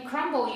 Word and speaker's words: crumb: we were exploring letters silent letters we found that some of the time you could hear them like in crumble you could hear the bee but in crumb you didn't so we made up